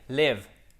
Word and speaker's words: live: Comment on prononce celui-ci? To live, live, c'est un i court. OK? To live, I live, et pas I live. C'est pas I live, c'est I live.